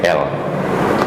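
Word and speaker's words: Elle: Saya juga teringat kepada sebuah kisah chief editor pemret majalah L, bacanya L, tulisannya elek. Nah, kalau orang Jawa elek itu jelek nantinya kan.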